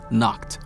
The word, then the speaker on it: Nacht: of the Vice Captain, Nacht, which you guys told me that's the way that you should pronounce his name, because in my review,